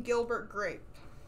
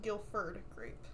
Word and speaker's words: Gilbert Grape: What's Eating Gilbert Grape? Because I thought it was called Guilford Grape, and wrote that down too